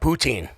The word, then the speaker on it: poutine: Oh, like pouting like Yeah, kind of like that but with a different py tang.